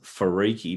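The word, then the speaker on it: Wharariki: on a piece of paper you would never pronounce it farii but that's how the the ma is pronounced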